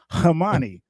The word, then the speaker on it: Amani: They're like, but you said Hamani. I was like, yeah, that's how you pronounce it, Hamani. but it's spelled Amani.